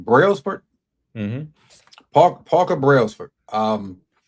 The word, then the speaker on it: Brailsford: Brailsford?